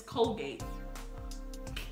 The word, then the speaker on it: Colgate: It's Colgate. Óbvio que é gay. Por que eu nunca pensei nisso? Colgate. Eu vi isso nas stories do minha amiga ontem. Olha, gente, comprei Colgate. Eu pensei, nossa, que bonitinho. É porque gate de portão, Colgate.